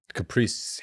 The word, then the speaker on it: Capri: Caprice. No, it's Capri, dude. It's Capri. That's how you say it.